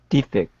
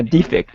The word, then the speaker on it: defect: escape from i heard the noun should be stressed fast zero point bob should be stressed in second syllable so defect uh defect a defect and defect exactly yes so we